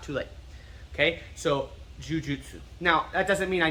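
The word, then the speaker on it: 柔術: first one is the actual name itself okay jujitsu or j-i-u-j-i-t-s-u is a mispronunciation of jiu-jitsu okay jujutsu now you could say it's a different art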